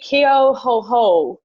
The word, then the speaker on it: Keohohu: Okay, so it's Nikki Keohohu. That's how she says it. We've all been saying it wrong.